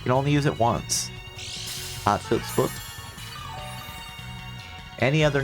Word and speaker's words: Hatshepsut: Hatshepsut. Like this. How do I pronounce it? Let's ask the Google. How to pronounce. Hatshepsut.